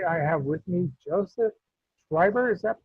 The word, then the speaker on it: Schreiber: We are in Indie Beacon Radio, and today I have with me Joseph Schreiber. Is that pronounced correctly?